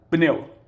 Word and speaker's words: pneu: lado está errado aí nós temos uma consoante a pronúncia pneu painel é uma sílaba só a advogado advogado a